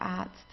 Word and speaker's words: Arzt: Here we have a vowel and then comes an R. Okay, so in this case we pronounce the R just like an A. Arzt, a long A. Der Arzt.